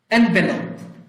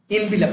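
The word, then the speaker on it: envelope: এনভেলপ, এনভেলপ ইনভিলাপ না এটা, এনভেলপ খাম।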